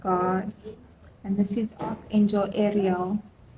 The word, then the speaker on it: Ariel: We have the Strength card, and this is Archangel Ariel. I guess you pronounce it the same as you would Ariel from the Little Mermaid.